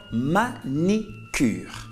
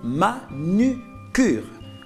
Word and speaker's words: manucure: des panneaux publicitaires exemple on entend manicure alors manicure ne s'écrit pas manicure on dit plutôt manucure alors souvent on a l'habitude d'en de remplacer le i par lui or c'est une erreur pourquoi parce que ma